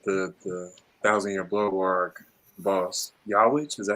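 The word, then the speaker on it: Yhwach: Yawich, is that how you say it? Yeah, Yuha, but Yuha's not.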